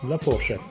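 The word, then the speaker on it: la fourchette: دونك أنا عندي الحرف اللي قبله هو التي، غنضغط على التي نقول لا فورشيت. إلا ما عنديش الأ نقراها لا فورشي.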